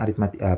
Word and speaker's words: aritmetika: memakan waktu yang lama ingat ini bacanya aritmatika apa ini adalah deret aritmatika ya karena terbentuk dari barisan